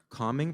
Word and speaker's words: calming: Calming presence? Calming. The L is silent.